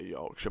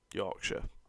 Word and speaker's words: Yorkshire: Americans say York too got Yorkshire Yorkshire just with a York you know anyways let's